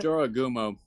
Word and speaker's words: Jorogumo: By the way, it's Uh, Jorogumo.